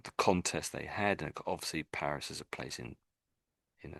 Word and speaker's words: Paris: Of course it in English we say Paris but in France they say Perry, don't they? So they say it slightly different to us.